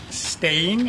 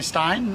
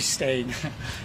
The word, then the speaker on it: Steyn: My name is Steyn, is the South African way of pronouncing it. Everybody calls me Steyn, which I don't really mind, but it's actually Steyn.